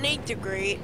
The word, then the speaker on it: Nat DeGreat: It's pronounced Nate DeGreat, but there's no E. There's no E after that, so it's Nat DeGreat.